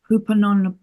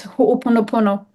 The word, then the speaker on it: Ho'oponopono: Hupanon. I can't say. Okay, it's a very old healing way. It's a practice. It's Ho'oponopono.